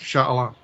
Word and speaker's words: Shah Alam: there in, I think, Shah Alam. Sure. Is that how we pronounced it in rehearsal? Yeah, sure. Okay. We'll go with that. All right. I'll go with Shah Alam.